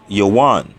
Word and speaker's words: Javan: the line of Javan, which in Hebrew is pronounced Yawan, which is one of the sons of Japhet.